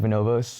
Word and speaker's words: Bonobos: Is that how you pronounce it? Bonobos?